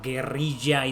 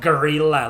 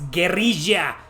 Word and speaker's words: Geria: And yes, that's how Geria is pronounced. It's not gerilla like gorilla. No, it's Geria.